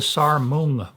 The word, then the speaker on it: Sarmoung: And they are called the Sarmung Brotherhood, which is spelled Sarmoung.